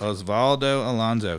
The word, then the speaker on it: Osvaldo Alonso: got another defensive midfielder from minnesota correct correct osvaldo alonso am i pronouncing that correct osvaldo alonso correct yeah and he actually he was a